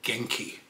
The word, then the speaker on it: Genki: Now I decided to go with, I believe the correct pronunciation is Genki, G-E-N-K-I, and that's the one that looks like we're gonna be choosing.